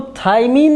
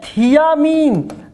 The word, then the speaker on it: thiamine: विटामिन B1 को थाइमिन नहीं बोलते, विटामिन B1 को हम लोग बोलते हैं थियामीन। दोनों स्ट्रक्चर एक जैसे आपको प्रोनाउंसिएशन में दिख रहे हैं, थाइमिन और थियामीन।